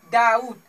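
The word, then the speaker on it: doubt: ठीक है, डाउट, यहाँ पे टी से पहले बी क्या है, साइलेंट है, इसे डाउट नहीं कहेंगे, डाउट कहेंगे। ठीक है, क्या पढ़ेंगे, डाउट, डाउट।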